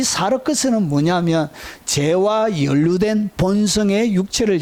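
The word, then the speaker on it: σάρξ: 사르크스, 이렇게 사르크스라 읽습니다. 이것은 소마라고 읽습니다.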